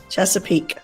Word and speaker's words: Chesapeake: Chesapeake.